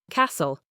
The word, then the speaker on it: castle: Silent T in certain common words. Listen. You only hear listen. Castle. You only hear castle.